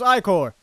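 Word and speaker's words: ichor: truple chalice I can feel it with magical eor I have no idea oh it's pronounced iore did answered my question for me choose your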